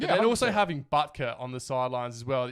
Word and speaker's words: Butker: playing too well, mate, Buckter. Yeah. Buckter. I can't say it properly. Butker.